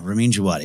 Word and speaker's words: Ramin Djawadi: Ken, what is the proper pronunciation of this? Ramin Djawadi. Yeah, Ramin Djawadi.